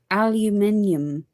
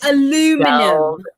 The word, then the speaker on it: aluminium: Aluminium. I pronounce it correctly. You pronounce it wrong. What the fuck is aluminum?